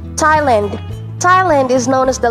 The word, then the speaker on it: Thailand: confirmed but according to the dictionaries and audio pronunciation guides with silent h thailand thailand thailand is known as the land of smiles